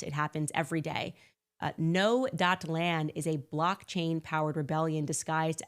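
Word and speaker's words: Gnoland: Before I tell you about the LA case, guys, I first want to tell you about Noland. That is spelled G-N-O-Land.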